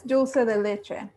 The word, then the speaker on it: dulce de leche: happen wait what albertina did i say it wrong yeah it's dulce de leche do you will say